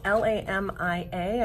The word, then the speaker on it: Lamia: I believe it's called it's L am ia I think I'm pronouncing that one right yep Lamia and then I